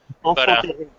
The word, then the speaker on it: enfant terrible: Because how do you pronounce it in French? Enfant terrible. How do you? My French is terrible. Enfant terrible.